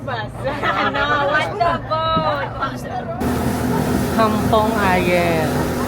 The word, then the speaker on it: Ayer: Kampong Ayer. Pero pronounced as Ayeng, Kampong Ayeng.